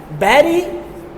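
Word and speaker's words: bury: बैरी the hatchet. ये इसको worry नहीं पढ़ें। बैरीड या बैरी किसी चीज को दफनाना। ठीक है? करेक्ट प्रोनाउंसिएशन इसके बैरी बैरी द हैचेट।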